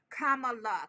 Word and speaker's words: Kamala: And Lashana says our Madam VP's name is pronounced Kamala, comma like the punctuation.